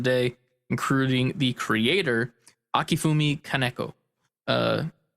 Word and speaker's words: Kaneko: including the creator akifumi kaneko uh kanako is probably the correct pronunciation um it'll be a